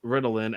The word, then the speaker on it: Ritalin: This story's MacGuffin is a plaque medicine called Ritalin, accent on the second syllable. In real life, Ritalin, accent on the first syllable, is a commercial name for the psychiatric